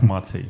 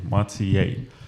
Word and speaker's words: Matej: So tell me, Matej, is that how you pronounce it? Yes, it's pretty good. Not Matej, Matej.